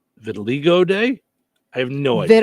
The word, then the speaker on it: vitiligo: So it's pronounced vitiligo? Vitiligo.